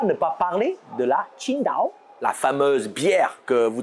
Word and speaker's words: Qingdao: tsi ngp à eau vous ne pouvez pas mieux prononcé que si daho en fait qui se prononce plutôt comme chine dans kin thing et signifie vert bleu